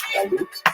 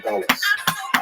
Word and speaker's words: galut: In Hebrew, galut, or in a Ashkenazi pronunciation, galus.